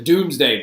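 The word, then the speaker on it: Domesday: pay etc etc etc the Doomsday Book is very very very important pronounced doomsday so the next thing we're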